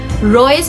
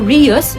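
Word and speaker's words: reus: unlawful act or actos rius no others pronounce it as royus or rius it's a latin legal phras meaning guilty act.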